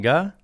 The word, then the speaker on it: Ge: know who Augie Ge, is it Ge? It's Ge. You know what? Yeah. I always thought it was, I think most people probably pronounce it Ge or something. Yeah, Ge, and then some people will say G, but Yeah.